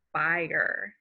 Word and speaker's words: spire: the next word is spire s P I R II got a mix the long I say its name I get a long I sound a spire is a